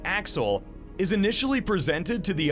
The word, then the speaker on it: AXL: Through the use of a promotional video, the name AXL, which is pronounced Axel, is initially presented to the audience.